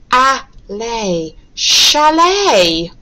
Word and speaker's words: chalet: Sh-a-lay, chalet, chalet. Again, if we pronounce this as ch, it'd be chalet, which doesn't make sense.